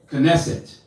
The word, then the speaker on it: Knesset: down knesset equals synagogue this is how you say it in hebrew knesset i have made those